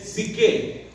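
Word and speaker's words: ψυχή: en el griego es psique. P-S-Y-C-H-E y acento en la E.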